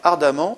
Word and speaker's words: ardemment: Il désire ardemment vous aider. Il désire ardemment. Ardemment, on prononce amant, donc on a une terminaison en deux M.